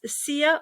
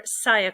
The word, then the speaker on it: Sia: the third one is sia or cya coin you hear it pronounced both ways i owned this project